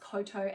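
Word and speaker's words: Kowtow: say the jeans that I'm wearing are from Coto, which is a New Zealand brand that I absolutely adore. And I have had some people ask me about the pronunciation. So, it's pronounced Coto as in Tenoto, Tenoto, Tenoto, Cartau, which is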